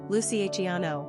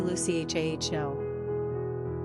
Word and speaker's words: Luciano: Giovanni Leonardo or Orlando American English speakers also often pronounce Luciano with four syllables Lucy agiano when the authentic Italian pronunciation is really Lucy h a h o there's no doubt that